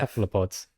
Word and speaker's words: cephalopods: was like like I always called them, cephalopods. yeah, cephalopods. then- I always said that. Yeah, and then like got to uni, it's like no, it's kef. Cephalopods.